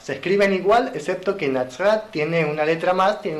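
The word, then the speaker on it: נצרת: Bueno, en hebreo Nazaret, como dije, se pronuncia Nazrat, como lo vimos anteriormente.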